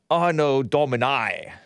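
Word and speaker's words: Anno Domini: d ano domini ano ano domini i think that's how you pronounce it in in uh in latin do you like the latin people and if you are british it is oh no dominai see so i looked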